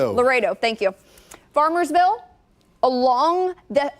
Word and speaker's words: Laredo: Can you remind me how to pronounce Lardio again? Laredo. Laredo.